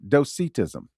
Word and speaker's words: Docetism: And so I went to multiple sources and they all said the same thing. Doitism.